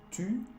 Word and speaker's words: tu: Para hacer el sonido U, tienes que hacer un O y de cerrar más un poco la boca.